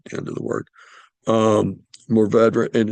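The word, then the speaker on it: Mourvèdre: You do hear people pronounce it Mourvedre, but it is actually pronounced Mourvedre. You don't really exactly pronounce the RE at the end of the word, but you kind of pronounce the RE at the end of the word.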